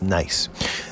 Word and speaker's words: gneiss: is what we call nice this how this word is pronounced I know it's got a G in front of it but is pronounced nice nice is a coarse-grained metamorphic